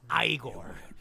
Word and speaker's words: Igor: Igor Master. It's pronounced Igor.